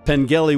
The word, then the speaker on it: Pengelly: Pengelly with a hard G.